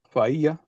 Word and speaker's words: fa'a: Like fa is always pronounced with the glottal stop.